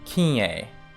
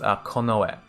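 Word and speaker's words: 近衛: think is possibly pronounced kinye, but it's not. It has an irregular pronunciation. It's pronounced konoe.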